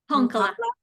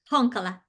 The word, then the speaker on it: Honkala: Am I saying that right? Honkala. Honkala. Honkala, sorry. Emphasis on the first syllable.